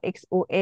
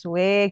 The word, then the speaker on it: Xue: anak-anak untuk mengingat oh kalau XUE itu bukannya Sue gitu kan oh harusnya bacanya agak monyong dikit gitu Xue misalkan Iya, gitu ya